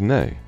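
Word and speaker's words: nei: or daughter daughter 13 hello and Icelandic is pronounced Hollow thank you is talk yes is yah no is nay goodbye is bless 14 the most common men's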